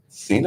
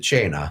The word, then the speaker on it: Cena: number five Cena has anyone heard of that Cena like John Cena spelled the same way C I haven't seen it's in Chanel sign yeah I've never heard that pron I would pronounce it chaina it's an Italian word chaina which means dinner